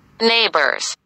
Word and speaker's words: neighbors: في عندي neighbors اللي هم الجيران، نسمع كده مع بعض neighbors، الجي اتش تكتب ولا تنطق neighbors.